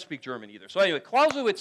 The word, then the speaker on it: Clausewitz: Is that how you say it? Clausewitz? Yeah, okay, I have to do the right German thing.